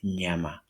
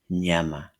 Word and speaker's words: nyama: like in Kenyon and the SW word which pronounce it straight this is nyama nyama nyama nyama is meat nyama is meat in English.